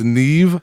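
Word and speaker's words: Niamh: Actually, it's Neve. Neve. If you see how it's spelled, I would not have got Neve out of that, but I'm one to talk with, my last name.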